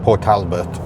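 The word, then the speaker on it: Port Talbot: That is how you pronounce it. Port Talbert.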